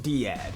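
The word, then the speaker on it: DEAD: into immediate hard mode that's where seed and deed missions come in side note I've also heard to pronounce Cad and Dad whatever y'all can fight to the death in the comment section over how it's pronounced in your neck of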